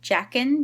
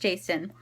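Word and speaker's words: Jacin: book by the way I was calling Jason jackin because of how it was spelled J a cin but it's pronounced jason and sorry for my gum I'm just chewing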